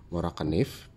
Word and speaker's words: Morakniv: Ini adalah pisau Morakanif, panggilannya di Swedia itu ya Morakanif gitu ya. Dia menyebutnya, pronounce-nya.